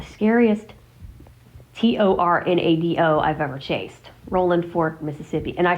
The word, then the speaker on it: Rolling Fork: Now, of course, it's spelled with the G at the end, but I do not say it that way because that's not how they say it. So, I'm not going to say it with the ing because that's not how they do it.